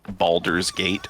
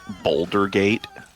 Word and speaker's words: Baldur's Gate: Speaking of mispronouncing shit, I was talking to someone the other day that kept calling Baldur's Gate Boulder Gate.